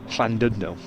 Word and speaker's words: Llandudno: point no run yeah they do silly things with double L's and Double D's and things don't they and but London